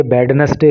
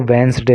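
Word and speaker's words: Wednesday: और ये वेडनेसडे इसको मत पढ़ना, मत बोलना, इसका जो सही प्रोनाउंसिएशन होता है वो वेंसडे होता है।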